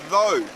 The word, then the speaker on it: though: then we have another word this word is pronounced though as then I enjoyed the movie though it